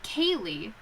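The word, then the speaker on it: ceilidh: over here hold on oh it's like kaylee irish is so oh it's scotland actually scottish why do they do this hop on let me see sounds like kaylee yeah hold on we're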